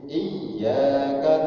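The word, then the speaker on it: إياك: Di situ saya sering pengajian dimanapun saya sampaikan, pas di atas iya itu ada tasdid di situ. Dalam ilmu tajwid kaidahnya dinamakan dengan musaddad. Musaddad itu berat, harus dihentak bacanya, karena itu musaddad. Beda ya. Jadi di atas iya-nya ada tasdid. Iyyaka na'budu wa iyyaka nasta'in, jelas.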